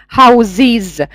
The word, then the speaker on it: houses: Вы знаете, что в единственном числе house мы произносим во множественном houses.